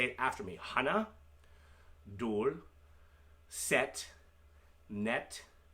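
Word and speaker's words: 둘: Dul. Sounds like dual.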